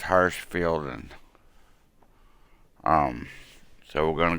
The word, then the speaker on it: Hirschfelden: pronounce or I think I always want to put that a harsh in fielding but it's Hirschfeld and um so we're